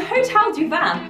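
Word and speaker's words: Hotel du Vin: guys, welcome to Hotel du Van. That's how it's pronounced.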